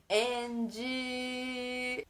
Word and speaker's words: and: Exatamente porque você muda a pronúncia original da palavra, que não tem esse som de i no final, certo?